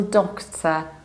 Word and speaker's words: doctor: And that's why we have a medical doctor, medical doctor. In the British accent, we say do with a short O, and we reduce the ending doctor, doctor.